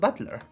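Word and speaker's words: Battler: or fight and person and it's pronounced Butler put it all together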